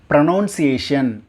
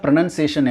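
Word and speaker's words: pronunciation: ப்ரொனவுன்சியேஷன் அப்படின்னு தான் எல்லாருமே அதை உச்சரிக்கிறோம். அதோட உண்மையான ப்ரொனன்சியேஷன் என்ன அப்படின்னா ப்ரொனன்சியேஷன். ப்ரொனன்சியேஷன், நாட் நவுன் அப்படிங்கிற சவுண்டு இடையில வராது. ப்ரொனன்சியேஷன், நாட் ப்ரொனவுன்சியேஷன். இட்ஸ் ப்ரொனன்சியேஷன், not noun. It's none. Noun கிடையாது, நன். ப்ரொனவுன்சியேஷன் தப்பு, ப்ரொனன்சியேஷன் ரைட்டு.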